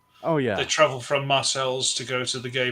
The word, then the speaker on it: Marseilles: There's there's another city here in Pennsylvania real close to Dubo called Marcel's. Of course it's Marseilles. Marseilles Marseilles but no Marcel's PA. That's what everybody calls it.